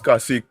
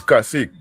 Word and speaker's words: cacique: It's actually, we pronounce it as Kasik. It's Kasik.